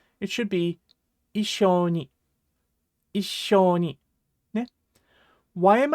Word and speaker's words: 一緒に: So it definitely should not be Issho Ni, ne? It should be Issho Ni, Issho Ni, ne?